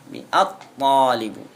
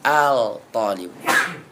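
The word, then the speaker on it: الطالب: umumnya yang ke1bu siswa tidak boleh di dibaca Al thaliibu at thalibu bukan Al thalibu yang ke-12 dad azzahru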